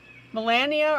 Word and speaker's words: Milana: I'll call never mind so is your name two or three syllables Melania or mean melan Melana spell it out for me phonetically three Melana okay does anybody else have this book M Milana oh Milana okay I think I got it Milana is that right ma la no Milana cool took me a few